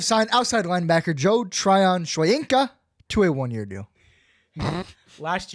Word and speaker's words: Shoyinka: Joe Tryon Shoinka. No. Shoyinka. Slow down the last part. Joe. No. Shoyinka. Shoyinka. Okay. Exactly how it's spelled, you say it.